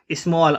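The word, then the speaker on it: small: बच्चों इसके साउंड पे जाना। स्मॉल। अगर आप साउंड में जाएंगे तो आपको ऐसा लगेगा जैसे एम के बाद में ओ आ रहा है जबकि ए आता है।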